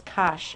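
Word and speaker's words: cosh: is after that okay that's how they is Kos X rhyming with gsh so the difference between this and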